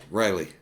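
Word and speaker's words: Riehle: They got in the bus, and Richard, how do you pronounce his last name? Riley.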